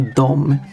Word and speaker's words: dom: However, people typically speak these two words as dom for both of them. There's no pronunciation difference between them. They just say dom.